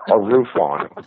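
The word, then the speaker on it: ARUFON: radio UFO net or arof on we pronounce it arof on I love it yeah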